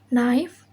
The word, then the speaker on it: knife: Rule: K is not pronounced when it comes before N in the beginning of a word. Example: knife, knee, know, knock, and knowledge.